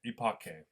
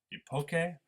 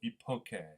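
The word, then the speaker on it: epoché: is the phenomenological EPO epoch so this is the Greek term Epoch uh or here's the English equivalent Epoch this really I think is pronounced something like um ioke right and what does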